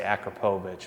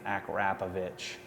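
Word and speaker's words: Akrapovič: and by the way, I think that's how I want to say Akrapovich, but I think it's Akrapovich is how you pronounce it.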